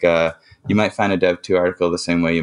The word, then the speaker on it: dev.to: So if folks want to check it out for themselves, it's Dev2. And I'm going to spell it so I don't accidentally misbrand you, which is dev.to.